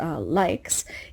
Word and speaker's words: LAIX: LAIX, pronounced likes, is one example from China, and It had its first IPO offering on the New York Stock Exchange recently.